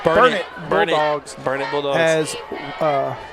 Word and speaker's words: Burnet: the eight for the burn burn it I'll say it right burn it Bulldogs burn bulog as